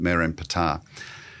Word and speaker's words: Merneptah: But Ramses II's son is a pharaoh called Merenptah. Looks like Merneptah when you look at it, so don't correct me for a wrong pronunciation. The Egyptians would have pronounced it Merenptah.